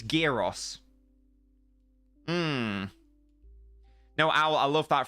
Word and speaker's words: gyros: was like, it's Moussaka and it's Gyros, and you better pronounce it like that for the rest of your life.